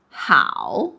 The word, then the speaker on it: 好: How, but isn't it should be 好 like in 你好? Okay, so this character, it has two pronunciation. When it pronounced as 好, it refers to the hobby. When it pronounces 好, it refers to good.